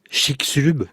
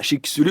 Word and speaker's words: Chicxulub: Chicxulub. Voilà, Chicxulub. Alors, je prononce pas bien le maya, mais c'est vrai que j'écrivais le nom au tableau pour mes élèves parce que.